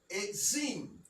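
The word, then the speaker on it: עצים: the e, and then the zadi is the tz, eight, eights. Like saying eights, you know, like the number 8 with a plural, like eights. Mm-hmm. That's how you pronounce this. The ayin and the zadi. All right? That's how that would be pronounced.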